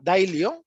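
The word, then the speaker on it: Daylio: ejemplo una vez que se llama daily que se escribe como de día l y o del yo y en ella simplemente es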